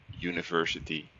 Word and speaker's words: university: will explain you why because you pronounce it as University so University that doesn't bite it doesn't sound like two vowels is it one-man show